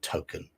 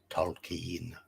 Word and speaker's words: Tolkien: I have heard people pronounce his name Token, but no, it's Tolkien.